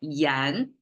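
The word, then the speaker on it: 言: It's pronounced as yan, like language almost, but really it means speaking.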